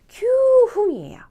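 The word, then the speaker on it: 九分: 9분은 큐흥이에요. 쿠흥은 아니고 큐흥이에요.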